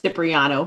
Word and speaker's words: Cipriano: I pronounce it Cipriano, by the way. Cipriano, Did I thank say you.